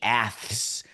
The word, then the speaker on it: Aths: And this year, we were all told that it's the Aths.